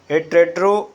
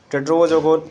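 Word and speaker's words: Tedros: महानिदेशक विश्व स्वास्थ्य संगठन टेड्रो अधानोम भी पढ़ा जाता है। टेड्रोस, थोड़ा इनका उच्चारण सही नहीं है, आप टेड्रोस के नाम से जान जाइए इनको।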